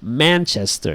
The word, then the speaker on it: Manchester: oh by the way it's pronounced Manchester you stress the man alright and yeah Nick